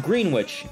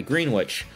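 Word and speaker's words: Greenwich: that's we have it's it's pronounced green witch thank you Dar tedra exactly green witch um so yeah what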